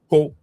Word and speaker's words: Coahuila: Yeah, it says you pronounce it, and it's pronounced like Coahuila.